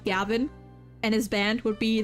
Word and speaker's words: Gavin: And his last name is most likely a pun on the German word Gewinn. So technically, it would be pronounced Gewinn, not Gavin.